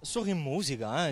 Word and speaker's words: Sori Musica: Sori Musica, l'accent tonique.